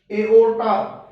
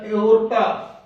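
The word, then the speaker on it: aorta: ए के साथ ओ हो तो साउंड बनेगी ए ओ। जैसे ए ओ आर आई एस टी, एओरिस्ट, ए ओ आर टी ए, एओर्टा, या एओर्टा, एओर्टा।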